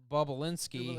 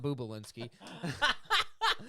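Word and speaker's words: Bobulinski: Hunter Biden's former business partner, Tony Bobolinsky, has stated... Bob! Not Bubalinsky.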